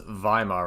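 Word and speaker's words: Weimar: So you have one set of youth channeling their I thought it was Vhimma Republic. I thought that's how you pronounce it cuz uh W's are pronounced as V's in German anger into nationalist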